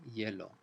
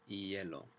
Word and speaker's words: hielo: And the H, we don't say hielo. It's just the H in Spanish. It's as if it isn't there. You never pronounce it. Patinar sobre hielo.